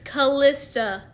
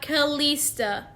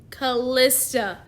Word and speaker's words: Callista: It's Callista, not Callista. Callista.